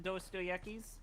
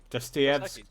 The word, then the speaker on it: Dostoevsky: You've read some Dostoevsky's? Dostoevsky? Dostoevsky. Dostoevsky. My favorite. That. Yeah. Dostoevsky. Okay, how's it pronounced? Dostoevsky. Dostoevsky. Dostoevsky. There's a V sound.